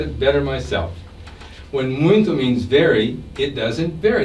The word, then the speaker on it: muito: Now, listen to how the Brazilian sister says muito. Muito. Wait a minute. She's not pronouncing the final O as O. I'm hearing a oo sound.